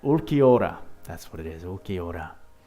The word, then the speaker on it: Ulquiorra: Ulquiorra. That's right. Ulquiorra.